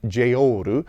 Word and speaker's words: JEOL: And so, it's supposed to be pronounced like J O R U, which is the katakana way to pronounce it, and even that I'm probably getting wrong uh slightly.